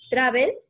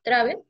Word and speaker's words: travel: Profesor, viajar en inglés es travel. Uh-huh. ¿Y así se pronuncia? Travel. Sí. Travel. La E casi no suena, suena entre una E y una O.